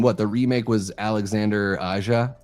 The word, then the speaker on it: Aja: But I would imagine what the remake was Alexander Aja. Aha. I don't know if he pronounced. I would imagine he doesn't pronounce the J. The J is silent.